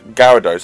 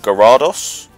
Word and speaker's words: Gyarados: is the weirdest poke one name like to pronounce like because I like mmm so you've got like gyarados i'll actually people other people call it gyrados guy era dos and then you've got like